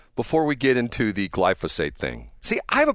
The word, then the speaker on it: glyphosate: And it's glyophate. No, glyphosate. See, I I get those syllables mixed up all the time.